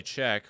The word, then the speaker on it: Sczech: Allie Czech, which is spelled Sczech, has committed to play